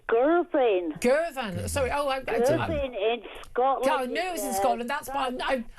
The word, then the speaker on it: Govan: Tell me how to pronounce that, Heather. It's Govan.